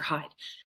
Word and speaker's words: Hyde: hide. And you hear the play on words, it's spelled h yde e, but really what you're meant to hear is hidden, hide.